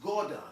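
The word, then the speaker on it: Godan: name is wardon also oden's name is also uh gordon it's also pronounced gordon g-o-d-a-n as well as w-o-u-d-a-n and um when we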